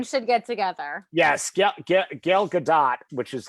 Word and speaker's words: Gal Gadot: the way I should get together yes yep gal gadot which is how you say her name by